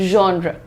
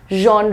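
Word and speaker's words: genre: जॉन र पे रुक रहे हैं। जॉन नहीं है ये। This is जॉन। जॉन raw simple है बिल्कुल। ठीक है? That's very nice Shruti. Welcome to the class. So pronunciation check करो इसको कैसे? जेड और एच लिखा है साथ में ना। तो इसमें ज और श का मिक्सचर देना होता है बेटा।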